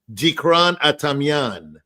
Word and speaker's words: Dikran Atamian: I like your pronunciation, but it's Dikran Atamian. Okay. Tigran Atamian. No, you added the Tigran. Actually, that's the real name. I was saying Dikran Atamian, but it's an Americanization of the Tigran Adamian with like a D.